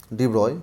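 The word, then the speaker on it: de Broglie: French physicist Lewis vector डि बगली pronounced as ब्रॉय मतलब इनको ब्रॉय बोलते हैं डी ब्रॉय ठीक है 92 से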